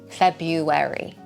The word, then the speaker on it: February: So if you're stuck with that, say February. If you're still stuck, this is a bit of a cheat way, but you can reduce it to two syllables.